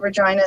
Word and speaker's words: Regina: in a place called regina saskatchewan which is exactly as cool as it sounds um you may have noticed that regina sounds like a certain word and uh there's actually